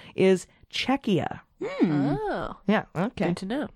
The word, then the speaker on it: Czechia: but the pronunciation is Czechia yeah I came to know because it's a maybe it sounds too close to Chechnya oh there you go